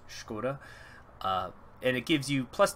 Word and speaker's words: Škoda: That's how I've always heard it pronounced, Škoda, and it gives you plus 10% factory output.